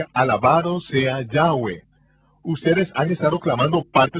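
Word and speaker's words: Yahweh: de 7000 veces aparece el nombre del Señor yahwe en las escrituras hebreas pero los traductores de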